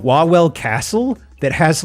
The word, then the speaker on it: Wawel: Wawel Royal Castle, pronounced Wawel.